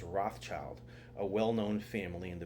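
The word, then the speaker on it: Rothschild: going as far as changing his own name to red shield today we pronounce that name as Rothchild a well-known family in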